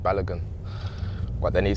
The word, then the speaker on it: Balogun: uh because I just told them how to pronounce my surname and I said balogun but then he said uh have you got